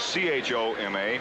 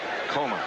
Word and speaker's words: Choma: Spelled C-H-O-M-A, but pronounced Coma, like the movie.